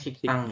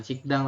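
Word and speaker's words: 식당: nih ini apa dibacanya dibacanya siktang ya siktang Nah bukan sikdang tapi sik tang okeik seperti ini dibacanya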